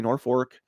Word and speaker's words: Norfolk: If you can find the Norfolk Daily News, and it's spelled like Norfolk, we say Norfolk Daily News, Norfolk, Nebraska.